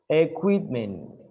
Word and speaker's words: equipment: Equipment. In English, equipment. Spanish is equipment, right? Because we don't pronounce the U, but in English we do.